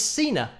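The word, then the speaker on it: Sina: And that is Cena, which is rhyming with Gina, Cena, Gina.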